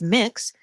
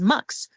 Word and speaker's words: Mx: people pronounce MX as mix and some people pronounce MX as MX so this is the